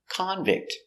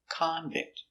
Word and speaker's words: convict: Convict is the person. He is a convict, a person in prison. It's a noun, so stress on the first syllable, convict. He's a convict. The verb, convict.